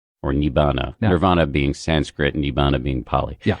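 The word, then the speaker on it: nibbāna: Pseudo nirvana or nibbana would be the poly pronunciation.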